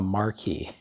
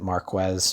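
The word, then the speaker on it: marquis: a marquee was and i probably pronounced it marquez just because i was like yeah i don't know probably pronounce the q why not okay i didn't really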